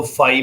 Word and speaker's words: phi: फाई, इसको फाई pronounce करते हैं, फाई।